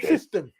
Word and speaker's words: Syston: Oh, Siston.